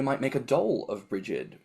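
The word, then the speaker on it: Brigid: make a doll of bridgid which I think they pronounce as like a breog um which gets paraded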